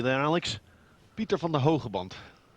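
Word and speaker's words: Pieter van den Hoogenband: Did Did I pronounce Hugenban correctly there, Alex? Pieter van der Hogeband.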